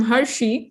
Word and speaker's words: Hershey: I'm Hershey, pronounced like the Hershey's chocolate.